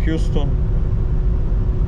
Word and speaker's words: Houston: zasady na przykład miasto Houston z Teksasu się wymawia Houston ulicach auston w Nowym Jorku czy wymaga heuston